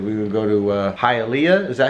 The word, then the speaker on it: Hialeah: We're going to go to Hialeah. Is that how you pronounce it? Hialeah. Yes, it is. Hialeah.